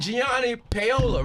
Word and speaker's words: Gianni Paolo: this Michael Rainey power and Gianni Paola right did I say it right yeah let's